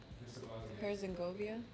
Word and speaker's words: Herzegovina: Herzegovina? No, It's like Genovia, but no, it's Vina at the end, not Govia. yeah, I just Vina.